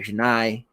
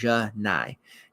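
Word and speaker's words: Johni: time around um but chennai is how we pronounce it i gotta remember that ja nai chennai broom he is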